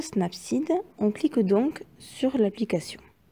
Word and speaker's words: Snapseed: en haut d'un recherché pour cliquer et écrire snapsy dedans snap site qui s'écrit s n a pu s e e